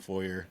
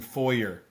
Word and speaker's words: foyer: go I also I I did use the pronunciation foyer yes to make it rhyme yes but normally I pronounce that word foyer foyer what do you guys think foyer foyer I go foyer I think when we're